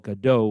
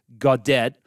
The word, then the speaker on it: Gaudet: bullduk and Mark Andre Gaudet who we called Godot last week uh on on the show but unfortunately it's God dead so it's a little easier to pronounce than some people might think uh but anyway so